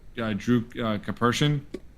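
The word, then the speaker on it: Karpyshyn: Um, and and I know I've said this in the past, but Drew Capers, right, that's how you pronounce it.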